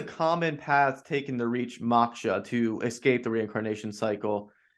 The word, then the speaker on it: moksha: It it small correction, it's normally pronounced moksha.